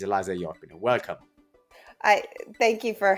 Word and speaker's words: Eliza Jäppinen: I know that this time is the right way to say it. In the past, I've been saying Eliza for whatever reason. I thought somehow I had to pronounce it the Italian way, but it's Eliza Jäppinen.